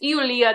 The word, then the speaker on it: Ioulia: yes because that's it's eia that's how you say Julia in Greek but by the way